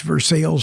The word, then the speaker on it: Versailles: I've seen the Palace at Versailles. That's Versailles for those of you not familiar with the French pronunciation.